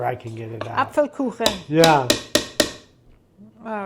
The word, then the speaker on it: Apfelkuchen: You mean the Apfelkuchen?